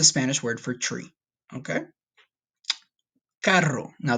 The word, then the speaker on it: carro: Carro. Now, this one you have to roll your R's, but just try your best, okay?